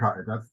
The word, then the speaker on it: Radkai: Radkai, or am I pronouncing that incorrect? Radkai, that's correct.